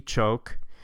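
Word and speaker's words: Xook: All right, so you won't have to remember her name, but her name's Lady Choke. And the X is pronounced like a CH in the Maya language, the way it's written with English alphabetic characters.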